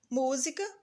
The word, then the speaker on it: música: Música, o mu já está acentuado, então, portanto, ela é a sílaba tônica da palavra.